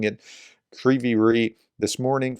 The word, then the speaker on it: Kryvyi Rih: Russian strikes on Kryvyi Rih. I'm mispronouncing that. I heard Greg Terry pronounce it properly, and now I realize I'm mispronouncing it. Kryvyi Rih.